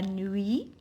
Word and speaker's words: nuit: c'est willy nuit la nuit louis il/elle je remplace par louis 1 puis 1 puis je prononce pas la lettre t nuit aussi je prononce pas la lettre t fruits un fruit avec